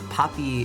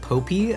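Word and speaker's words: Poppi: The Poppy is pronounced like Poppy is the correct one, but I really like pronouncing it like Popey.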